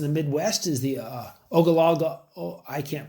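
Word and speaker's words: Ogallala: big ones in the midwest is the uh ogala I can't pronounce it very well ogalala there thank you aquafer that is being over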